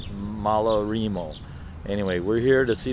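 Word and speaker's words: Malarrimo: transportation by nick as usual anyway this is malarimo everybody corrects my spanish pronunciation it's pronounced malarimo anyway we're here to see the whales and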